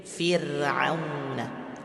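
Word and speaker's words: فِرْعَوْنَ: Ya, kemudian yang kedua, ra dibaca tipis ketika sukun diawali dengan kasrah. Fir'auna. Jadi tidak naik, ya, suaranya tidak naik tapi fir.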